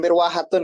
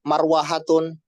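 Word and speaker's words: مِرْوَحَة: Kayak mirwahatun misalkan. Kalau kita tidak tahu mirwahatun itu apa namanya kipas, maka kadang kita bacanya marwahatun, marwihatun.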